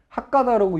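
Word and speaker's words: 博多: 한자로 박다인데 핫가다라고 읽어요. 일본 말로는.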